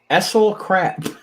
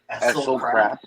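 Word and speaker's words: Esel Krap: The Gentleman and Nightmare lost to Essel Crap. Essel Crap. ESEL, that's his first name. His last name is spelled KRAP.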